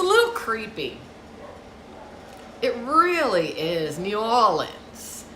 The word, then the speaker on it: New Orleans: creepy it really is new orleans how do they say it knowledge that's how the locals say it's it's a creepy place